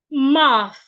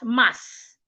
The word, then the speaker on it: math: My tongue is not behind my teeth. It is in between my teeth. Math. Math. I love math. My math teacher is in school, not mass. A lot of people pronounce the word as mass.